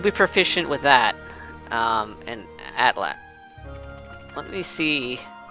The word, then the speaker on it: atlatl: Atlatl. Yeah, Atlatl. Okay. Spear, bastard, sword. I would say those would be her weapons. Yeah, not the bow so much, because she's got that Atlatl she can just chuck spears to, like, hunt with.